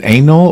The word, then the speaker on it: anole: Is it anole or anole? Anole. Just anole.